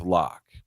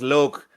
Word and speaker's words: Locke: I liked the idea of what they had with Locke. What I didn't like is that Chief still had to do with Say it correctly. His name was Loke.